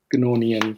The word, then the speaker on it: Gnornian: of like to dive into i believe you pronounced it gnorian yeah good nornian excuse me yeah uh so with that i